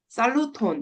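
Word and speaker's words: saluton: 그래서 처음 만나면 이제 안녕하세요 얘기할 때 살루톤 이렇게 얘기를 해요. 살루톤. 그래서 그냥 발음기 없이 그냥 그대로 읽으시면 돼요.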